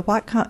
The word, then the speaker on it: Whatcom: Hugh Conroy is the project manager at the what com is it pronounced Wacom Whatcom okay welcome Council of governments in Bellingham